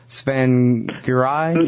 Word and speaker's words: Tsvangirai: Tsvangirai.